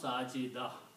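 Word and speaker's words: ساجدة: So if the word is sajidatun, but if you stop, you do not pronounce this ta, so you pronounce sajida, which is a feminine name.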